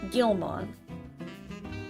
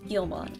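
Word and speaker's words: Guilmon: pronounce it anyway Gilman the U is silent I see there's a silent u in there I like I like him I've heard that he's just baby Guild horse Gilman oh Gilman I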